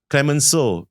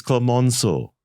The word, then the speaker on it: Clemenceau: It's not Clemenceau, it's Clemenceau. Yeah, the one because it's French.